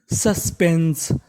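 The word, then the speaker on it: suspense: यह होता है कि अगर आपको इंग्लिश की किसी भी मीनिंग के आखिरी में इ लिखा हो तो हमें इ का उच्चारण नहीं करना खाली हमें एस का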